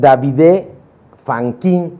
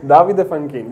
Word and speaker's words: Davide Fanchin: Continuamos aquí en la entrevista y sigo con Davide Fanquin, y lo dije mal, me va a regañar. Bueno, ¿cómo se pronuncia? Davide Fanquin. Bueno, yo aquí en México te iba a decir David, pero no, ¿verdad?